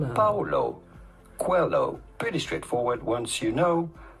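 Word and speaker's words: Paulo Coelho: How do you go about pronouncing his name? Paulo. Quelloo. Quo. Paulo. Quelloo.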